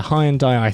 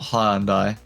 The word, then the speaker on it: Hyundai: There's a Hyundai i30N. There's a Lotus Emira. There's the Mazda MX-5 ND Cup. What? Tom, have you not heard the adverts? What? It's not Hyundai. Oh, for God's sake. It's Hyundai.